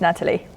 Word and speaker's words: Natalie: intonation for your name Natalie how do you pronounce it hi Sebastian yes it's Natalie Natalie perfect first or second question now who